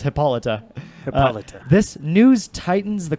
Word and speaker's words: Hippolyta: lighter face it's what Hippolytus mouths who said that where this just in it's pronounced Hippolyta peloton this news Titans